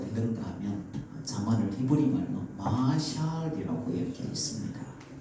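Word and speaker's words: משל: 어 히브리 말로 뭐라고 읽는가 하면 자만을 히브리 말로 마샬이라고 이렇게 있습니다.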